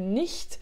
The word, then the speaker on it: nicht: Attention, tu as bien vu la prononciation du nicht, c'est le h qui est à l'arrière, hein, c'est pas le sh comme ça, sch, mais h derrière.